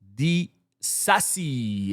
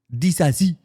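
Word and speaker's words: Disasi: Now, the second player that has offered his services to Barcelona is no other than Axel Dasi. I think that's how you say it. Dazi. He is French after all.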